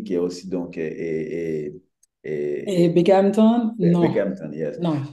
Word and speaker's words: Binghamton: Donc, mais paraît-il, on devrait dire Binghamton, bang, on devrait Gamma.